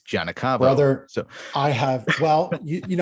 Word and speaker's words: Giagnocavo: beginning, because I said Giagnocavo. Brother, so I have, well, so no, you didn't, because that's the way it's said in Campobasso, Italy. Giagnocavo is acknowledging the Ellis